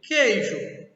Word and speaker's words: queijo: Queijo. Eu tenho 6 letras e 5 fonemas. Por que 6 letras e 5 fonemas? Porque esse Q e U eu só pronuncio uma vez, um som de K.